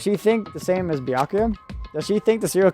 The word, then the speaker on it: Byakuya: By it's Byakuya. Yeah. I I don't know how to mispronounce a misspelled name when it's already Japanese.